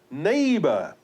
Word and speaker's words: neighbor: Then we have neighbor. E-I-G-H is pronounced as A.